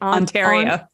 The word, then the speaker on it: Ontario: Ontario. It's a hard A.